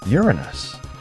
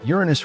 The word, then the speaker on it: Uranus: Uranus. Yes, we're pronouncing it the funny way.